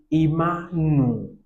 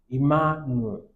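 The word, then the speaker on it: עִמָּנוּ: pronounce it, this is imanu, imanu. So we take note of that one. How do we get the double? Because mem has Dagesh, and this Dagesh is Dagesh forte.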